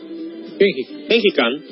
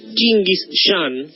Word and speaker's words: Gengis Khan: Gengis Khan, pronunciado... En realidad debería pronunciarse Chinguis Khan.